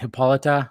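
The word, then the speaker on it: Hippolyta: Queen he I always say her name right hippolita right good thank you hiita Last Time by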